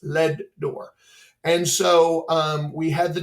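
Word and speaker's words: Leadore: It's pronounced Ledor. Every time I say it, everybody always corrects me. No, it's not Ledor. It's Ledor.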